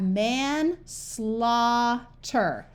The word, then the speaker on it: manslaughter: u says Ah and GH most of the time is silent sometimes it says G